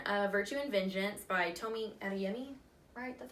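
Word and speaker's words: Tomi Adeyemi: one is children a virtue and vengeance by Tomi and yummy alright that's how you say it the first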